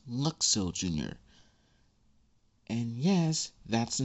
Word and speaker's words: Luxo Jr.: And yes, I said it and pronounced it correctly. It's Luxo Jr. And yes, that's the name of that tiny lamp, Luxo Jr.